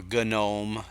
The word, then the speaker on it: GNOME: I haven't tried the gnome version yet only because I'm not a big gnome fan or gome depending on how you pronounce it that's another one of those that gets pronounced both ways but I'm not a